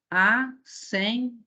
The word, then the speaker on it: assembleia: Bom, antes disso, por que essa palavra é uma palavra paroxítona? Porque quando nós vamos fazer a divisão silábica, nós dizemos assim, assembleia. O A é a última sílaba e o blei é a penúltima, onde está esse ditongo aberto, tá?